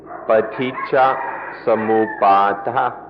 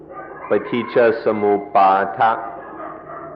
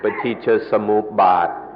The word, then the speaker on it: Paticca Samuppada: The word is Paticca Samuppada. Paticca Samuppada. In Thai, the pronunciation is a little shorter, Paticca Samupbad. But in the Pali, it's more like Paticca Samuppada.